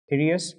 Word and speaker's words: Pthirus: So they are called as the Pthirus pubis, right? So P over here is silent, so that is the Pthirus pubis.